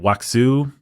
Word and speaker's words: wuxia: Wuxia. Wuxia. Okay. See, I'm not someone that knows how to pronounce Chinese words.